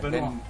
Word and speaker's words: Benoit: Benoit.